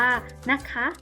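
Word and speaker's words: นะคะ: คำ ว่า นะ คะ นอ หนู สระ อะ คอ ควาย สระ อะ ออก เสียง ว่า นะ คะ เด็ก ลอง ออก เสียง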